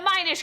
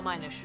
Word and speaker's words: Minish: The Minish, the title is pronounced like the word diminish. No, Minish.